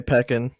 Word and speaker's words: pecan: down where we're going pecan most likely i don't sound like a fucking idiot no that's probably how to say it because they i ironically say peckin like it's an inside